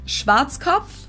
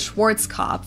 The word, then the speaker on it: Schwarzkopf: German, we pronounce it Schwarzkopf, which Yeah. literally means black head. Schwarzkopf. English native speakers usually pronounce it Schwarzkopf or Schwarzkopf or something along those lines.